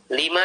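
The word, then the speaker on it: لِمَا: akruhu dalam kalimat akruhu lima taqama karena penjelasan yang telah lewat tadi nah ini dibaca lima bukan lama Kalau lama artinya ketika atau belum Nah ini dibacanya lima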